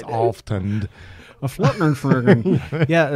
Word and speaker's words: Alftand: It's you know, it's not Aftland, it's Alftand.